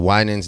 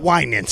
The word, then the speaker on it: Winans: Summer 16, the Winans. Ooh, yeah. I mean, the Winans definitely. The Winans. Thank you for helping with my pronunciation.